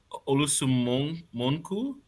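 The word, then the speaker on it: Olusanmokun: Olusun Monkun. Monkun. I apologize. I need to hear someone We pronounce both it.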